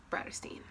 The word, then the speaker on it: Bratterstein: name is and my channel name is pronounced brighter Steen today's video was I'm